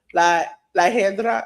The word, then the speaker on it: La Hiedra: Iguana was a special referee because La Hedra, is that how you pronounce it? Yeah, that's right.